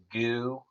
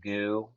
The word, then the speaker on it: GU: You, So Uh, you need some goo, or and it's spelled GU. You need some goo, or you need some like gel blocks, or like protein.